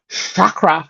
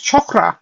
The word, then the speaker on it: chakra: um you see um people say chakra Ra and chakra and it's chakra and I apologize to